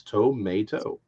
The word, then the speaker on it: tomato: Break it up into three syllables. Toe, But you can't pretend the other A. vowel doesn't exist. It's tomato.